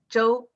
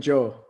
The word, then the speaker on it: Zhou: In Chinese, it should be Zhou. Okay. All right. Zhou.